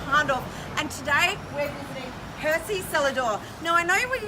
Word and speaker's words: Hersey: Hersey. Yeah, not I keep Hersey, thinking of not Hersey. Hershey, like chocolate. Yep. There's no silent H.